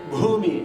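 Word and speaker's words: भूमि: So you have to say bhumi, especially my Tamil friends.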